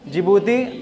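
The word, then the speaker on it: Djibouti: Asmara D फॉर जिबूती अब आप बोलेंगे डी से कैसे जिबूती तो अंग्रेजी में डी से होता है ना स्पेलिंग है डी जे आई बी ओ यू टी आई ठीक तो डी से क्या हो गया जिबूती अब एस से जो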